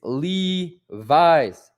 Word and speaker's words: Levi's: It's pronounced like how you say it. I know that because my name's Levi. It's Levi's.